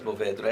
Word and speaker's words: Mourvèdre: it's kind of, that's the French pronunciation, I suppose, Mourvèdre.